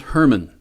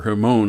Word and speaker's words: Hermon: there that's a mountain that's Mount Hermon in the northernmost part of Israel okay or her moan I think it's pronounced H ER mo in and right at the